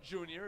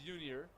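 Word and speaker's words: Yunior: Not Junior, it is Junior, spelled with a Y.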